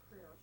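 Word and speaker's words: Creer: It's C-R-E-E-R, Career. Career Labs. It's spelled C-R-E-E-R, not C-A-R.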